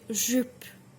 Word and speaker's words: jupe: Also, if you say jupe, une jupe, c'est très, très difficile, which means it's really, really difficult to pronunciate. So it means a skirt. So jupe, ju, je, tu, u.